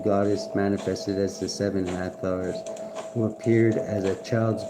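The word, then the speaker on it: Hathor: Hathar pronounced Hatha is a goddess of light, joy and gratitude.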